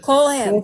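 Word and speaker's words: Kohlhepp: Colehep.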